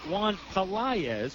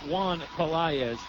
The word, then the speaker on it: Pelaez: We were calling him Juan Pelaez last night. We got a little bit of a minor pronunciation help. We're going to try and call him by the proper pronunciation, Juan Pelaez.